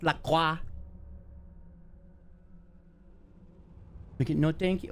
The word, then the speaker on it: LaCroix: It's not LaCroix, but we can call it LaCroix, even though it's pronounced LaCroix.